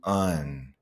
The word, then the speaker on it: and: We're going to change the and sound to un. Uh, that's the schwa sound.